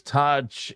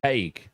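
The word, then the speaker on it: Tadhg: DJ Shaq says Taj is pronounced Taig.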